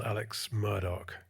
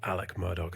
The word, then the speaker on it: Alex Murdaugh: injury lawyer involving a personal injury lawyer called Alex Murdoch or Alec Murdoch as he pronounces it um in South Carolina in a couple of years ago.